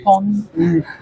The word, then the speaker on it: pon: because it sounded like pun instead of pon.